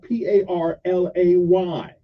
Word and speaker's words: parlay: have it and it the word is called p a r l a y which is pronounced parlay which means to turn